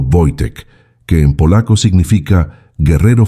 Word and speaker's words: Wojtek: pronunciado Voitec, que en polaco significa guerrero feliz o soldado alegre, un nombre que resultaría proféticamente adecuado.